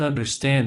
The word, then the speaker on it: understand: more sentences I don't understand that I don't understand it we didn't say I don't we say I don't I don't understand it and we stress the final syllable of understand that that is going